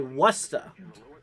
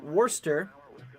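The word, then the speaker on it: Worcester: of those greatly appreciated Guinea says we say wasta so let's see uh Worster oyster in portions of West okay what's the Worster we're just gonna call it warster uh anyways so yeah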